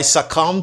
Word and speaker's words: succumb: The letter B is silent. Okay? I succumb to Juliet's charm.